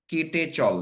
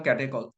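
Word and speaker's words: catechol: লিখে দিচ্ছি তোমরা দেখো স্পেলিংটা ক্যাটেকল কলের বানানটা একটু অদ্ভুত কেটেচল এরকম ভাবে বলতাম আমরা এর নাম ক্যাটেকল এবার এবার ওইচ এর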